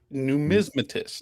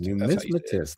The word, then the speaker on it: numismatist: You know, I know a few coin dealers that can't pronounce this correctly. That's uh, FG got it first. FG, numismatist. Numismatist.